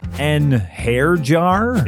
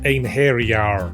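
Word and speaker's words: Einherjar: An hair jar? It's pronounced ein hair-jar.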